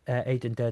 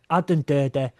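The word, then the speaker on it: Aden Durde: Yeah, we've been calling him Aiden Dur this whole time and that is my fault because I set that precedent.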